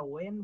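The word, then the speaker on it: when: তারপর হোয়েন বলবো না, এটা ওয়েন বলবো, ওয়েন।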